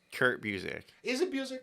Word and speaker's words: Busiek: It's Kurt Busiek.